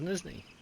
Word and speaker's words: Nizhneye: It doesn't look like it should be pronounced Nizhneye, but this is Nizhneye.